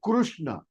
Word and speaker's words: Krishna: Krishna. It is not Krishna. If you call it Krishna, our God Krishna will say, okay, he is calling Mr. Krishnamurti. But if you say Krishna, he will get alert.